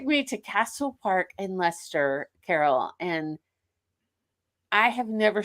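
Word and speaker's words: Leicester: in in lest leester I'm gonna say it wrong leester Lester thank you see I knew I was say it's when you look at it spelling Shannon it looks like Lester but it's ler and I always get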